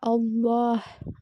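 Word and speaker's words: الله: அந்த ஃுல் வேர்ட வந்து எப்படி ஓதணும் அப்படின்னா ஹவியா அல்லாஹ அப்படின்னு ஓதணும் வல்லினமா ஓதணும்.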